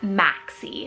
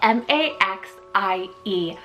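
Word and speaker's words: Maxie: list off today we have the sweetest name Maxi it's spelled m-a-x-i-e Maxi this is so playful it kind of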